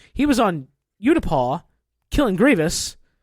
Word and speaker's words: Utapau: I say Utapau because that's how it's pronounced in the Battlefield 2 game in Galactic Conquest. I have heard from somebody Utapu. Ugh, that's which wrong. I don't think is correct.